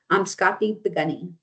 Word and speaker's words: Amskapi Pikuni: Amskapi Pikuni. So, there are Blackfoot relatives across the medicine line and again pronunciation is Amskapi Pikuni.